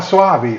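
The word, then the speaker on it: Soavi: Any I'm probably pronouncing wrong. M Suavei. He did the church this cemetery man. Ah Suavei.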